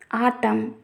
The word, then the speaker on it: autumn: If we see the condition, at the end of a word, N is not pronounced when it comes after a M. Let us see the examples column, condemn, autumn, solemn, etc.